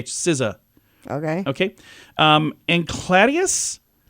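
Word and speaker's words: SZA: IMA Roi eth most streamed Spotify artist it's pronounced Siz Siz SI s i z u sizza okay okay um and cladius something like that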